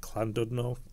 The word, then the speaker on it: Llandudno: london in wales or it's pronounced clandudno um we go there